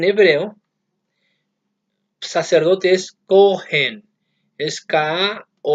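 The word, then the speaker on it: כהן: En hebreo, sacerdote es Kohen, es K-O-H-E-N y se pronuncia Kohen, no Kohen, Kohen.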